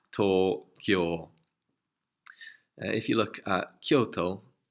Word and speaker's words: Tokyo: capital so that's what it means and it's pronounced tore cure if you look at Kyoto where I went